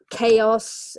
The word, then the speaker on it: chaos: Chaos is the noun, so that often has causes a bit of problems with people. So CH sometimes can be pronounced as a K.